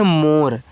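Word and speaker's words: more: देखो इसको पढ़ते हैं मोर। तो एम से मा ओ से ओ की मात्रा मु आर से र इसका उच्चारण नहीं करेंगे तो मोर।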